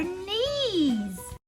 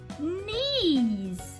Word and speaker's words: knees: that's right these are knees this is a trick you want to spell it's spelled k but the K you can't hear the K when you spell it silent and e e s knees what's the next one